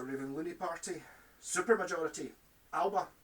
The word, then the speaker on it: Alba: looney party super majority alba or pronounced alaba that's alex salmon's party